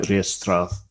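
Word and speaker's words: ríastrad: We also get it with the Celtic battle rage, which is pronounced something like Riestrath. If there's anybody Irish listening, I apologise for my pronunciation.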